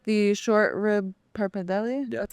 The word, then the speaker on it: pappardelle: Okay, so I really like the short rib pappardelle.